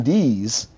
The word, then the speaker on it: Deese: Because it wasn't even, his name is Warden Allen Dees, and it's spelled Deese, but nobody ever said Allen or even...